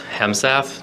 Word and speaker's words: Hemesath: and have a seat state your name and spell it please hemsa t r a v i s h e